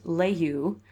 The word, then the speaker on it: LaHue: "Yes, from Eliza LaHue, pronounced Layhew, my niece.